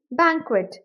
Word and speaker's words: banquet: यह ध्यान देना है किसी भी वर्ड में क्य यू इकट्ठा आए तो उसकी प्रोनंसिएशन एज को प्रोनाउंस करनी है और वैसे ही प्रैक्टिस करनी है तो इसकी प्रोन हो गई बैंक्वेट बैंक्वेट अब क्विट में